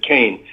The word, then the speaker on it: Kean: okay um anyway yes leslie kane she pronounces it kane um i worked with